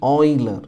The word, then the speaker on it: Euler: quantity and these are named after the mathematician oiler e UL e r is the spelling but you had to pronounce oh i l e r so L